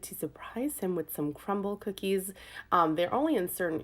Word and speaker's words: Crumbl: It's spelled crumble, but with like out the E at the end of it. So it's just CRUMBL.